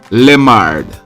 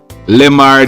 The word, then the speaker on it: Lemard: charged a man his name is mr stedman limard limard is spelt l e m mr lamard he's a 59-years-old car dealer and he live